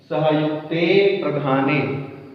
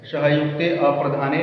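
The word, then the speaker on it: सहयुक्तेऽप्रधाने: सहयुक्ते प्रधाने, ये उच्चारण एकदम शुद्ध है। सहयुक्ते अप्रधाने नहीं बोलेंगे, क्योंकि ये चिन्ह दिया गया है का मतलब अ था, बोलना नहीं है।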